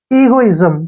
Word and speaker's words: egoism: और आई का उच्चारण ई होगा और एस का उच्चारण यहाँ पे जय करना पड़ेगा क्योंकि पहले वावल आया है। और एम का उच्चारण मैं होगा। ईगोइज्म, क्या पढ़ेंगे इसको?